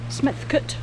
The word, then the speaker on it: Smethcott: So I think the early spelling of Smethcott, Betchcote, Picklescott, they have C-O-T-E on the end, and now they have S-C-O-T-T, but I've always pronounced them like they have C-U-T at the end, cut. So Smethcott, Picklescott, Betchcote. It's always how I've pronounced them, and I've heard, you know, relations pronouncing it, so it's obviously a Shropshire pronunciation.